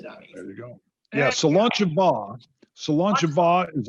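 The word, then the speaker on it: Slàinte mhath: So Solancha Va, and I may not be saying it right, but when we were in Scotland, we found out that folks in different regions even say it different.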